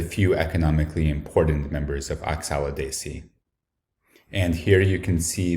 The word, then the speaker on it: Oxalidaceae: So think Oxalidaceae has 5 syllables, and everything to do with the flowers is a multiple of 5.